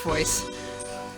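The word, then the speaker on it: Voez: than uh V or I shouldn't pronounce it's pronounced voice this this game's music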